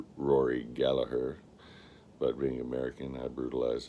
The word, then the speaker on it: Gallagher: Gallagher is his name is supposed to be pronounced Rory Gallaher but being American I brutalize his name and it's I've tried saying gaher it's too hard I I've said Gallagher for so long it sounds wrong when I